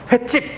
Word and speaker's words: 횟집: 그러면 한자어와 고유어가 합쳐졌는데, 앞에 게 모음으로 끝났습니다. 그리고 뒤에 게 된소리가 발음되는 거야. 횟집! 이렇게 되니까는 여기 사이시옷을 적을 수가 있겠죠.